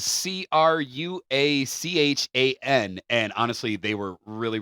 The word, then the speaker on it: Cruachan: It looks to me like Cruachan, which is Cruachan.